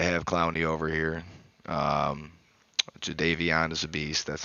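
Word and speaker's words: Jadeveon: yeah glad to have Clowney over here um jvon is a beast that's how you say it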